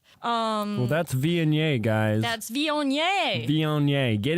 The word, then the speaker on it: Viognier: Well, that's Viognier, guys.